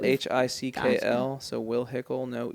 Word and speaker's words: Hickle: we'll hype you up yeah my last name is spelled h-i-c-k-l so will hickle no e I'm on Instagram holler at me